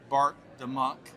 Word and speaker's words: Bart DeMuynck: of folks out there that are new to Bart the Monk and your ecosystem, tell us a little bit about your journey and what you do now.